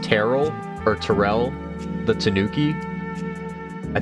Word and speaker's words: Terrell: and I know there is a city in Texas that apparently is pronounced Terrell.